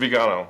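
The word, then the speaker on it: Viganò: Yeah, and the I keep butchering his name because I'm saying Vigano, but it's, tell me again the pronunciation. Archbishop Vigano, yeah, it's fine, yeah.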